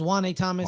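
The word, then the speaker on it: Juanyeh Thomas: It's Juan A. Thomas.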